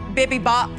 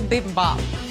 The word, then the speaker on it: bibimbap: describe your dish this is a coconut jasmine bibby bop bb bop bb mop bimmy bop beam above